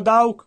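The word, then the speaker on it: Daugh: Entrai, misi la mano sotto la tenda, dissi, fratello Dauk, puoi sentirmi? Mi guardò. Ora, in realtà, nel suo nome, lui è tedesco, D-A-U-G-H, e io lo pronuncio Dauk.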